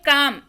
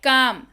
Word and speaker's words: calm: देखिए इसको पढ़ते हैं काम, ठीक है। CALM स्पेलिंग है लेकिन पढ़ते हैं काम।